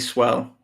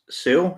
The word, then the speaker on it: Sewell: The Bengals are going to take Penei Sewell or Sewell.